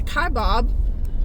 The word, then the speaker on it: Kaibab: I believe the Kaibab, that's how you say it, National Forest.